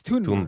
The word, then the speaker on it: Thunberg: And then I Yeah, I heard her interview her on the flotilla and she's like, "It's Tunberg and it's it's Tunberg not there."